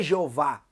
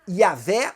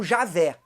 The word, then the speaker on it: Yavé: A melhor pronúncia, segundo vários especialistas, não seria Jeová, seria ou Yavé ou Javé. Essas seriam as melhores pronúncias.